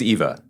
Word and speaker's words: Ewa: Um, it stars Lena Gora as a character named Ewa, who is uh You could say it's Eva.